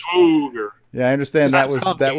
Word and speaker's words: Swagger: So yeah, it's a long O too. Swoger. Yes. Swoger.